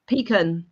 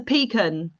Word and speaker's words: pecan: It's not a pecan or a pecan. It's a pecan. Almond. You call it a pecan. It's not a can of peas. It's a pecan. You don't pee in a can.